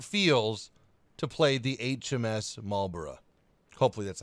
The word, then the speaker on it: Marlborough: I hope that made sense, because that's exactly how it feels to play the HMS Marlborough. Hopefully that's how you pronounce it. Like Edinburgh, Marlborough. It's not Marlborough.